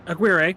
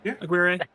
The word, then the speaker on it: Agüero: Sixth for Santiago Aguer. Right. I feel like I've said it wrong every time. Agüero.